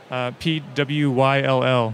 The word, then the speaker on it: Pwyll: And just above one of the few cratered features, Pwyll, P-W-Y-L-L, which is pronounced Pwyll.